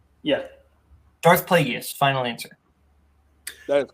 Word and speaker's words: Plagueis: Is that how it's pronounced? Yeah. Darth Plagueis. Final answer. That is correct for 2 points. Do we want to be petty? no. Okay. No. Okay. It's Plagueis.